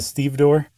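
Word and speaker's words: stevedore: The one who's like the head, the foreman is a Steve door. Okay. You said that earlier and I pretended like I knew what you meant. So, it's it's spelled exactly like it's pronounced, too.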